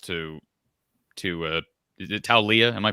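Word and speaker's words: Taulia: not an insult to to uh is it tell leah am i pronouncing that correctly totally to leah okay it's not an insult to talia but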